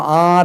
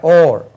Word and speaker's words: or: ஓர் ஓஆர் நம்ம ஆர் என்று உச்சரிப்போம் இல்லையா. ஓர் ஓர் அல்லது.